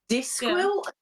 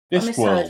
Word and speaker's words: Discworld: I thought you said Discwill to rhyme with NyQuil. Discworld.